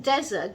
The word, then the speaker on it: desert: In desert, that is D-E-S-E-R-T, it is desert. The stress is on the first half of the word.